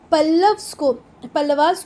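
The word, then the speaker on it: Pallava: वैसे अगर हम एक्चुअल में बात करें तो ये चोलास नहीं है, ये चोल हैं, ये पल्लवास नहीं है, पल्लव हैं। क्लियर है? चलो छोड़ो इसको, चोलास बोलना है चोलास बोलो, पल्लवास बोलना है पल्लवास बोलो, पर स्पेलिंग याद रखना।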